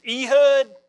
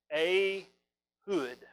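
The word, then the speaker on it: Ehud: we're going to talk about a guy it looks like his name is e-hud but actually it's pronounced a hood and i can't say it a hood it comes out e-hood so i'm gonna call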